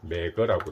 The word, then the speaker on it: Megger: 우리가 우리가 공부했던 거 발음기호로는 메그 테스트 매거라고 되어 있고 실제 외국인 발음을 들어보니까 메가라고 그러더라고요 내가도 되고 내거를 사용을 해도 될 것 같아요 제 생각입니다 여기까지 자